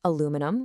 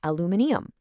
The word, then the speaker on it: aluminium: While North Americans say aluminum with four syllables, the British say aluminium with five. And they actually spell it with an extra I at the end.